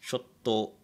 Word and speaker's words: chotto: So you pronounce this as chotto, right?